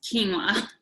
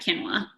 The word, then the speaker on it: quinoa: crowns key so it's it's quinoa not quinoa are you serious are you sure quinoa quinoa yeah they said in Hebrew they say ki Noah just so you know